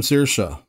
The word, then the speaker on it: Saoirse: Maybe you're using the name Saoirse, which, in case you didn't know, is spelled S-A-O-I-R-S-E. So you would probably want to spell out Saoirse, or S-E-A-R-S-H-U-H.